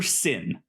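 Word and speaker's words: Syn: This is about the Reverend the Doctor Christopher Sin. Sin spelled with a Y.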